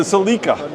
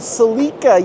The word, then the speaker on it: Celica: would be uh the as the British say Tommy the Cela the Cela yeah the Celica and they said it